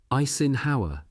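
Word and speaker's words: Eisenhower: Isin Hower, as Bradley pronounced the name in his sodbuster twang.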